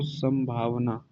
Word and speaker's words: संभावना: लिखेंगे तो यहाँ पर इस अनुस्वार के बदले में अनुस्वार के बाद म वर्ण का उच्चारण दिखाई देता है आपको, संभावना।